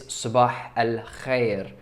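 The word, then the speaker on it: صباح الخير: The correct way to pronounce this is sabah al-khair.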